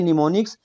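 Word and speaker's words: mnemonics: इस प्रनंसीएशन एक निमोनिक्स एम को साइलेंट करेंगे इसको पढ़ेंगे निमोनिक्स programme detail in assembly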